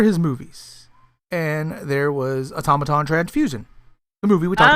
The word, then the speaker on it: automaton: And I kept calling the movie Automaton, but it's automaton.